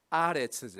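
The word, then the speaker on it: ארץ: 이 히브리어의 땅이란 말은 보통 에레츠, 원래 발음은 아레츠죠.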